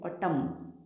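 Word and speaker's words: autumn: तो इस वक्त याद रखो, ये जो एन है ये साइलेंट होता है। एम के बाद न, तो इसको पढ़ते OUTUMN, ऑटम, ऑटम, न नहीं पढ़ते, ऑटम।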